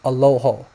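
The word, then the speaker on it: ܐܠܗܐ: And maybe in Western, you know that it's pronounced Aloho.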